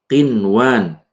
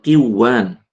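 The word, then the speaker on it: قنوان: Kemudian qinwan bukan qiwan.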